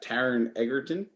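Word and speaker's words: Taron Egerton: about an hour for 46 minutes it's got taran eggerton did i pronounce it correctly yes you did he is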